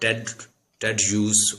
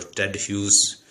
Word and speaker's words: Hughes: Today we shall discuss about TED use or TED use. Both are good. Both pronunciation can be used, because I have checked many dictionaries. They are pronouncing this word TED use and TED use as well.